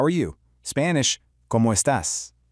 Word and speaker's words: cómo estás: Spanish, ¿cómo estás? Notice the accent on the A, giving it just a slight emphasis.